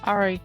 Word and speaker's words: Ari: How do you pronounce her name? Ari or Ari? Ari.